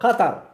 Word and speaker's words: Qatar: for me he said this is how we pronounce it thank you so Qatar the country of Qatar where they have the World Cup right now